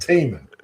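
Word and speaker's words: Tih Minh: Teeman. It's pronounced Teeman. As in, that lake is teeming with salmon.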